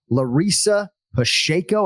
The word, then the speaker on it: Larissa Pacheco: Larissa Pacheco, is that how we're pronouncing it, Ken Flo?